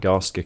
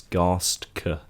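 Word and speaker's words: Garstka: I'm using the Matt Gaska kit. I realize I've been saying his name wrong. It's Gasta. G A R S T K A.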